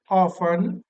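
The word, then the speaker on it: often: ध्यान से सुनना हाउ ऑन वी विश य ऑन है इसमें टी साइलेंट होता है टी को हम प्रस नहीं करते हाउ ऑन वी विश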